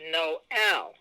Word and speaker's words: Noël: yeah and that means when you put that above a vowel that it's almost like creating a separate syllable for that word it's not just an accent it's like it's almost like a separate syllable for that letter so it's not know like if it was the name of someone you might say no oh no it's Noel because of that accent so this is the